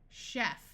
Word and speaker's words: chef: Orchestra in these words CH will sound like sh this usually happens in words that we got from French chef a chef is a